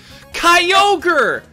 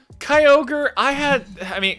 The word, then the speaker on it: Kyogre: Kyogre! Okay, so actually... Hang on. Just telling a little fun story. Hang on, I'm also gonna put back on the Pokemon Lo-Fi. Kyogre, Sapphire was like the one Pokemon game that